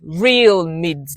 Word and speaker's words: Realmids: So, the name, first of all, it's real mids like real mids mids m i d s like the real, first of all, it is one word that describes me.